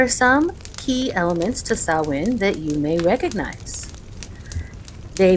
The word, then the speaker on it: Samhain: the time where sawin was at its height sawin spelled s a m h a i n is a Gaelic word and it is pronounced sawin or sa and it's a pagan religious Festival